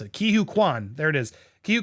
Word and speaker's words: Ke Huy Quan: And so out of nowhere, the likable, sorry, I'm still learning how to pronounce it. Ke Huy Quan.